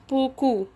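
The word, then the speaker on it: beaucoup: كثيرا بوكو بوكو بوكو. الأو هنا بو او او. حرف الإي بعدها حرف الآ بعدها حرف اليو، نطق بو كو بو كو.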